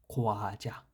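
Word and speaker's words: 과자: এখানে বাংলায় হয়তো একটু মিস্টেক হয়েছে লেখায়, এটা চা হবে না, এটা হবে যা, যা, খোয়াজা, খোয়াজা, এরকম হবে উচ্চারণটা, খোয়াজা।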